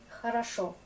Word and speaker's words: Хорошо: Хорошо. L'accent est là, du coup on prononce ça comme A.